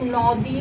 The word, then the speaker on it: নদী: নদী, আমরা কেউ নদী উচ্চারণ করি না, সেটা নু উকার হয়ে যায়, নদী।